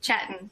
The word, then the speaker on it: Chetan: I am pronouncing your name, Chetan, correctly. Yes, that's extremely correct.